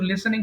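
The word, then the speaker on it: listening: কাছে আসছি আমি তৌহিদ ভাই ওকে আর ইউ লিসেনিং টু মি আর ইউ লিসেনিং টু মি আচ্ছা একটা উচ্চারণ একটু ঠিক করে নিই সবাই খেয়াল করেন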